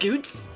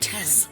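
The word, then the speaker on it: Goetz: Goots? That's how that's pronounced? Don't I thought it was fret about Goites.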